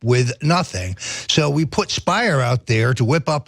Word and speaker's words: Speier: is congresswoman Jackie Speier Speier rhymes with liar this is this is